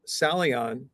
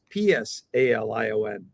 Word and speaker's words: Psalion: little bit more about Salion, as we say in English, Salion, but it's pronounced Psalion.